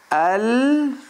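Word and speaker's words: القمر: Al-Qamar. Al, see, al, alif, lam, cut the tail, stretch. Qa, cut the tail, stretch. Mar. Al-Qamaru. Okay?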